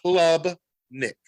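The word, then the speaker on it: Klubnik: quarterback recruit for the 2022 recruiting class Kade Club Nick I had to make sure I got the name um pronounced correctly Club Nick ni Nick he not only he played in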